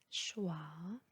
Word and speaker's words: choix: X à la fin du mot est toujours muet, il n'est jamais prononcé. Choix, époux, paix, faux.